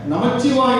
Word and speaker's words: நமச்சிவாய: அப்ப நமச்சிவாய சரியா, நமசிவாய சரியா என்ற ஒரு வினா எழுகிறது. எளிமையாக புரிந்து கொள்ளலாம். மந்திரமாக, ஐந்தெழுத்து மந்திரமாக உச்சரிக்கும் பொழுது நமசிவாய, அங்க இச்சு சொல்லக்கூடாது. ஆனால் பெருமானுடைய திருநாமமாக நாம் சொல்லும் பொழுது நமச்சிவாய என்று சொல்ல வேண்டும்.